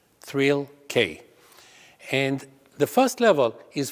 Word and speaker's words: Thrill-K: three levels knowledge or it sounds phonetically like thrill k and the first level